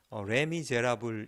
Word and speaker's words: Les Misérables: 희안하게 나더라구요 그래서 근데 어쨌든 레미제라블 이라고 읽습니다 음 이제 합 뿌리로 1억 정도 될텐데 es 는 뒤에 두 개의 애쓰는 묵음 이 되고요 어 이 단어의 뜻은